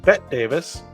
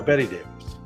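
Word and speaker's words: Bette Davis: a B tte Davis which you would normally pronounced bet Davis but she went by Betty Davis so go figure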